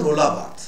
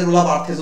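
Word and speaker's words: Roland Barthes: তো তিনি তারও ফ্রান্সে জন্ম, তিনি পরবর্তী ক্ষেত্রে ইংল্যান্ডে মুভ করে যান, তার নাম হচ্ছে রোলা বার্থ, অনেকে রোলা বার্থেসও উচ্চারণ করে, RoLANDy, রোলা বার্থ, BARTHES, ঠিক আছে।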